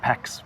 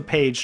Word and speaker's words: Pécs: It's pronounced Pécs, not Pex, by the way.